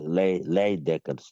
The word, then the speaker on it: Leijdekkers: A lot of people they try for calling him Leijdekkers. In Dutch side, in the Dutch, the J, they know they pronounce them. So now there's Y. That's what they pronounce it.